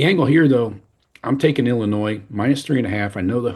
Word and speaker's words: Illinois: Number 9, Illinois at number 19, Indiana. Do you love it when people say Illinois and pronounce the S on the end? Yeah, it's funny. Anyway, Illinois is favored by 3.5, over under a 48.5.